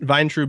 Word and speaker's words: Vayntrub: to like explain it to people had some syllables out of it yeah so so vine vine trube is close enough yeah it's perfect cool I